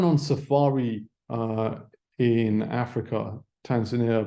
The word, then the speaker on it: Tanzania: Safari uh in Africa Tanzania I believe or Tanzania is the locals pronounce it um so something that